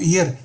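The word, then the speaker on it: heir: जो ईयर है उत्तराधिकारी, इसके एच साइलेंट होती है, इसको ईयर बोला जाता है, प्रोनाउंस किया जाता है कि the king died without living an ईयर टू the throne.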